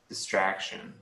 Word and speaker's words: distraction: what's uh such uh stress on on the second voice the second sound yeah the second syllable is stressed distraction uh sometimes there are